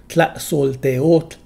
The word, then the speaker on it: Tlaxolteotl: Tlaxolteotl. If the speaker is male, the stress is on the added suffix e. Tlaxolteotle. This is called the vocative form.